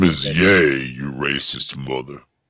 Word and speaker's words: Ye: Kanye oh oh okay it's actually pronounced yay okay what's this is